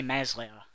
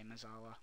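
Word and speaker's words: mezzala: I say it wrong, I know, I'm sorry. I say Mez later, so get used to it, but I'm going to try and say Mezala, but I'm going to fuck up a couple of times.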